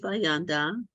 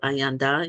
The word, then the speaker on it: Ayanda: to our ancestors so Chief aanda uh the proper pronunciation is Chief ayanda if Adara Clark who